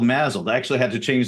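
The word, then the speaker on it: MASLD: so now it's called mled so the S is is with a is is kind of pronounced with a z so right so so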